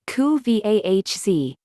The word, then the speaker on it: Kuvasz: The Kuvasz, pronounced koo-vahz, is a big, strong Hungarian working dog whose main task was originally to guard livestock.